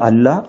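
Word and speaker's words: الله: Pronounce பண்ணுறாங்க, ஒன்று வந்து அல்லாஹ், இன்னொன்று வந்து இல்லா. அல்லான்றது வந்து எப்போ ப்ரொனவுன்ஸ் பண்ணுவாங்கன்னா, டெஃபினட் ஆர்டிகல்ஸோடு சேர்த்து ப்ரொனவுன்ஸ் பண்ணுறதா இருந்தால் அல்லான்னு ப்ரொனவுன்ஸ் பண்ணுவாங்க, டெஃபினட் ஆர்டிகல்ஸ் இல்லாமல் ப்ரொனவுன்ஸ் பண்ணுறதா இருந்தால் இல்லான்றது ப்ரொனவுன்ஸ் பண்ணுவாங்க.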